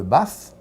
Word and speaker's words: Bath: Vous êtes un passionné de rugby, vous avez joué de 1984 à 1991 avec l'équipe d'Angleterre, puis pour le club de Bath, je le dis bien Bath?